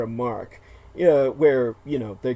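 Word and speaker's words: marque: it's spelled Maki it's not pronounced so it's pronounced letter of Mark uh where you know they're given awards for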